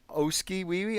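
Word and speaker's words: Oskee Wee Wee: Oski Wee Wee?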